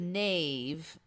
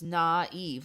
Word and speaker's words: naive: So the 2 dots symbolize that instead of knave, it's naive. Like you're supposed to separate the sounds into 2 separate syllables.